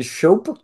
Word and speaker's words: Schoepe: new CEO uh shop is that how you pronounce your name that is actually how you pronounce it like soap Just sh okay and so